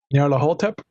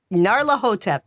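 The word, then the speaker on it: Nyarlathotep: on Sunday we're playing Call of there we are doing I can never pronounce it the mass of Nar hotep narla hotep there you go yep that's the one so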